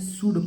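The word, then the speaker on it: should: एच ओ यू एल डी को क्या पढ़ेंगे शुड पढ़ेंगे इतना समझ में आ गया इसमें ला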